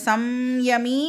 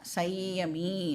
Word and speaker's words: संयमी: இந்த சம்யமி அப்படின்னு சொல்லலாம், இல்லைனா சையமி அப்படின்னும் வந்து அதை நாம் ப்ரொனவுன்ஸ் பண்ணலாம்.